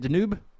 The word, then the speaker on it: Danube: Along is it Danube River? Is that how you say it? Danube? Yeah. Danube, yes. Yeah, that's what it was.